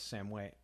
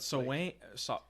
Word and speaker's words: Samhain: we also get the origin of Halloween as Samhain.